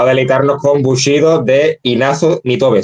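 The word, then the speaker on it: Inazo Nitobe: Eh, va a deleitarnos con Bushido de Ignazo Nitobe. Si lo he pronunciado mal, me corrige. Perfecto. Lo has pronunciado perfecto.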